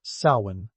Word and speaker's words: Samhain: Samhain, pronounced Samhain, because why make it easy?